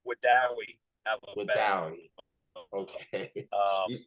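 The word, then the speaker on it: Wedowee: I tell people it's we do weed. You just drop the D.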